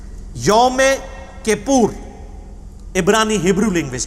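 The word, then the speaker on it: Yom Kippur: ओ एम के I double P यू आर यमे Kapoor इसकी pronunciation बकायदा मैंने उसमें गूगल में जाके सीखी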